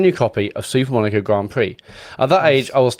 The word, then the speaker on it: Grand Prix: Super Monaco Grand Pricks. We've We've all been there and everyone in the room laughed at me. My mom explained that Grand Prix is French and it actually pronounced Grand Prix and I I felt